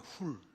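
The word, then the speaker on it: חור: 벤허는 영어 발음으로 허가 됐지 HUR로 표기된 허는 훌입니다. 훌. 히브리어로 훌이고 훌은 여러분 잘 아시는 출애굽 때 모세를 양쪽 팔을 잡아준 아론과 또 한 사람 훌입니다.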